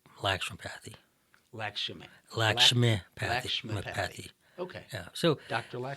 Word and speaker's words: Lakshmi: indian version yes well the indian version is lakshmi lakshmi is the goddess of wealth and